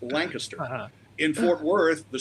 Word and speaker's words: Lancaster: I knew that in Dallas County, the town is pronounced Lancaster. Uh-huh. In Fort Worth, the street is pronounced Lancaster.